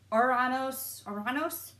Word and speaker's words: Ouranos: is written like this and pronounced her Ouranos - which is the actual name in Greek for what